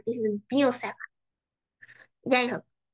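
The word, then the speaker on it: Biot–Savart: That's not Biot-Savart, which is horrible. কারণ these two guys were French, and French এ তুমি not মানে you don't pronounce this as Biot-Savart, this is Bio-Savart.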